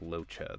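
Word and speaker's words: Luocha: Pronounced Locha.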